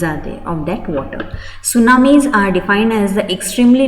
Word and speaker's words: tsunami: japanese word it is it's actually japanese word and t is silent over here translating to harbor wave